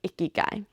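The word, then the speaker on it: ikigai: your life it's time to look at your icky guy it's i k i g a i yeah that's how you spell it it's not like icky guy like icky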